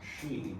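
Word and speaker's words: sidhe: In Irish and in Scots Gaelic, we have the word she, which is pronounced as spelled s i d h e,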